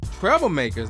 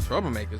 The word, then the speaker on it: Treblemakers: for amethyst Pete Rock Treblemakers not troublemakers Treblemakers okay that's no one